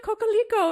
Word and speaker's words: Cocalico: space and she said, "Oh, Brenda Cocoal Leo." And I was like, "Yes, that's how you say it."